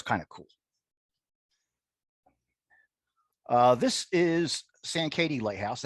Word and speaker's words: Sankaty: This is Sankaty Lighthouse. How do you pronounce it, Doug? Sankaty? Sankaty.